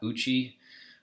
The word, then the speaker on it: Ouchi: I think it's Uchi. It looks like Ouchie, but I went with Uchi.